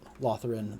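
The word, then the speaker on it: Lotharen: truly matters one way or the other but lothern the stairminder the freshmaker do you mind stairs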